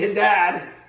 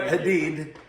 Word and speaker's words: Haddad: Welcome to Girls and Guitars Part 6 with special guest Haddad. I said it right. It's not Hadid.